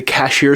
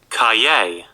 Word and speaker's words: Cahier: these in the past I've called them the cashier collection which I know now is incorrect because I misread the cover it's actually pronounced Cay Cay it's the C's collection an exercise book